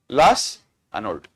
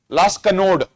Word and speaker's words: Las Anod: Las Anod. Also, they pronounce it as Las Kanod. However you want to pronounce. Both are same.